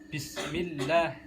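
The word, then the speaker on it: بسم الله: Yang pertama Bismillah, tanda tasjid di atasnya huruf lam jalalah, jadi bacanya Bismillah, ada penekanan penekanan atau double gitu, jadi bacanya Bismillah, jadi bukan Bismillah gitu.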